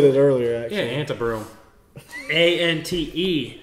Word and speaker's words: Antebrewum: Ryan does tend to say Antebrewum. Yeah. I say Antebrewum. I think you said it earlier, actually. Yeah, Antebrewum.